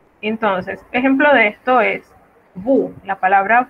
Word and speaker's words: vous: Y la S final tampoco se pronuncia, salvo ciertas excepciones. Entonces, ejemplo de esto es vous. La palabra vous, que es un pronombre personal, significa usted, ustedes o vosotros.